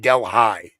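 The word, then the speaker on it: Delhi: it Caro yes we have a Deli New York but we call it Del high right there's a small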